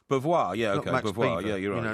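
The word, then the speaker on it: Beauvoir: Max Bvoir. Bvoir. Yeah. Max, you know, it's kind of a French pronunciation because he was in Haiti.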